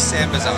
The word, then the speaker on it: Sambazon: So how do you pronounce the name of the company before we start? Okay, so this is Sambazon.